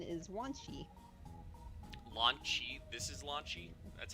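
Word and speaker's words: Wanshi: This is Launchy. That's how you pronounce it.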